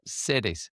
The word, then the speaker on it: Cedes: What was it that led you to, and I'm probably going to pronounce it wrong, but Cedes, like Mercedes, thanks. No, is how you pronounced it for me.